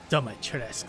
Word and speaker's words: Dumitrescu: Dumitrescu, that's how you say it.